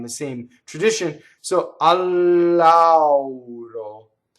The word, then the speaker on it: lauro: So al lauro, so double L and the A, and you have to say a u auro. So you have to go. This is a big journey for our American mouths to do that. You have to say all of the a. You have to get all of the u. It goes all the way around. Right? Notice that the R is flipped and that the final O is closed because it's not on the stress.